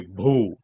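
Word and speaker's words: भू: It should be Bhu. Bhu, not Boo.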